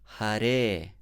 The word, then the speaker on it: hare: with the first word hare always remember that it is a that is long it's not ah it's not hari krishna